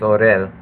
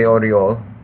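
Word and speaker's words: Орёл: Yeah, I mean, except it doesn't have the, it's not, yeah, it's technically here it's Orel, but that's not how it would be pronounced. So pretty comfortable in saying it is actually Oriol.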